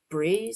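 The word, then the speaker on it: brae: Five across Scottish hillsides bree something that's is that pronounced correctly? Uh, let's check. Bray means hillside or riverbank in Scots. Uh, that's basically, but yeah, maybe it's Bray or B, but Bray sounds kind of right.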